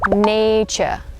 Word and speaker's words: nature: Yeah, so this is how you say it, nature, nature. So the TU, you would pronounce it as the CH sound.